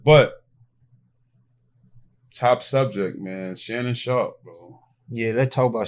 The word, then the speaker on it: Sharpe: think Shannon Sharpton is Why you calling him Sharpton, bro? That's his name. Last name, right? Wait, say his name. Sharpen. No, say his whole name. It says on there. Shannon Sharpet. Sharpet the free. Look, I don't know how to pronounce his last name prop. Shannon Sharpet game. That's it. No, it's Shannon Sharp.